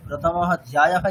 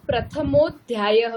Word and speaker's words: प्रथमोऽध्यायः: तो इसको प्रथमोध्यायः बोलना है ना? हाँ हाँ, ठीक है। प्रथमो अध्याय नहीं बोलना है, प्रथमोध्याय।